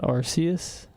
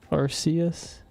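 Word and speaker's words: Arceus: Is it not Arus? Arcus. That's how I pronounce it.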